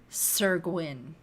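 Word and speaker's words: Syr Gwyn: I used how do you pronounce it? Sir Gwyn. Sir Gwyn.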